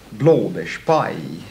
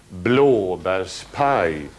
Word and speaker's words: blåbärspaj: Blåbärspaj. En gång till. Blåbärspaj. Ja, visst. Första och sista betonade. Blåbärspaj.